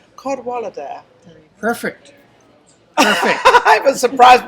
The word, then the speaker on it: Cadwallader: It's Welsh. It's a lovely name. I could pronounce it. It's a Cadwallader.